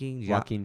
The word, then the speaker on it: Joaquin: Joaquin Phoenix? Joaquin.